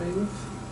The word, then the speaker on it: Elif: Any other questions for Elif? Can you tell me again how the proper pronunciation of your name?